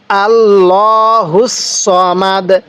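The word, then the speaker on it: اللَّهُ الصَّمَدُ: ভাবে পড়বো না তাহলে আল্লাহুস সামাদ কিভাবে শিখবো আল্লাহুস সামাদ এটা কিন্তু সদ উচ্চারণ করব তাহলে আরেকবার আমার সাথে সাথে পড়বেন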